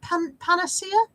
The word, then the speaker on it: panacea: It's not pronounced pancetta. That's another thing entirely.